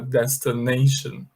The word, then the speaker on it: destination: Então, a pronúncia de destino, destinação é destination, tá bom?